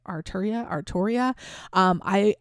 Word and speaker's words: Arturia: Arturia.